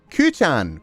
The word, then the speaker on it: Cú: Coochan, Sensei, just. It's just.